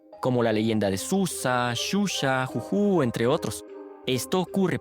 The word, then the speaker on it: Zhuzha: existe en el español, algunos traductores automáticos suelen transcribirla como zh, lo que hace que se pronuncie erróneamente sh, como en la palabra shampoo, aunque esa pronunciación corresponde a otra letra.